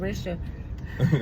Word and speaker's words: Ericia: is what Erica Erica but it's spelled e r i c i a so it's spelled Arisha look no um my